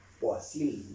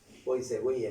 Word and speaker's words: Poiseuille: Poiseuille, dicen los franceses. Poiseuille podemos leer nosotros, porque el español se pronuncia tal como se escribe.